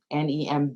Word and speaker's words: Nembhard: Nemb, B is silent, y'all, HARD.